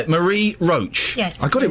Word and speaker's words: Marie Roach: Marie Roach.